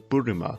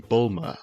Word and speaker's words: Burima: Side note, I'm pronouncing it as the original Burima rather than the common Bulma, as Toriyama's attempts at